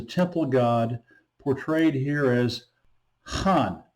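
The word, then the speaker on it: 汉: god, portrayed here as Han, pronounced with the fourth downward tone, comes from the name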